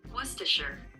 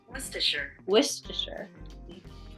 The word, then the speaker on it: Worcestershire: Worcestershire. See, I didn't even say it right. Worcestershire. Worcestershire. I said it wrong the first time.